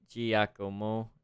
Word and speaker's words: Giacomo: Oh, like, hard G? Giacomo? Not G, just Gi.